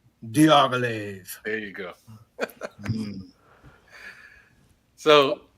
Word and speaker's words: Diaghilev: Diaghilev.